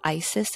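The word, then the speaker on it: ISIIS: vessel they have a real-time camera machine called Isis and it's spelled i-s-i-i-s um and that video captures all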